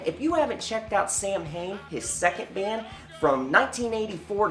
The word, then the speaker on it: Samhain: Before any of you smartasses out there start going, it's pronounced Samhain.